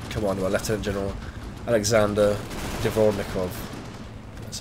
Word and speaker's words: Dvornikov: This division is currently commanded by Lieutenant General Sergei Surovikin, and the other division is commanded by Lieutenant General Alexander Dvornikov. That's how you pronounce it.